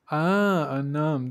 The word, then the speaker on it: un homme: Un homme. They pronounce that N. Un. So like a linking N, I guess they call that.